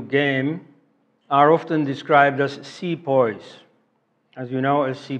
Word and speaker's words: Sepoy: the anti Hindu game are often described as see poise as you know as ce pas he is